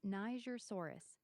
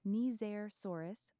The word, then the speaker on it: Nigersaurus: Most folks say it Nigersaurus, like tiger but with an N. The soft G makes it sound like Niger. The discoverer named it after the country Niger, which is pronounced Nizer.